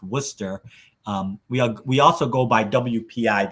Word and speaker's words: Worcester: It's spelled Worcester, but it's pronounced Worcester.